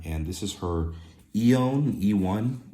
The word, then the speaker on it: Eone: And this is her Eone, E1. It's spelled EONE.